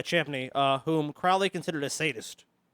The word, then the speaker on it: Champney: Reverend Henry the rst Champaign II I probably butcher that uh I think it's chimney Japanese yeah Champney whom Crowley considered a